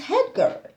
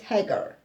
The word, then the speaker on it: Hagar: name of the maid is head girl not head girl it's hagar hagar yeah sorry hager guys